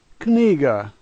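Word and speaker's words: книга: The fourth letter a G sound, and the last letter is pronounced as an A, and this word is kniga.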